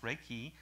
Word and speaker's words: Reiki: another quote from dr randy clark reiki is pronounced reiki and is a japanese word that refers to